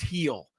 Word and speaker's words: Gil: Luis Hill pronoun or spelled gil g but pronounced heel yes um Bullpen session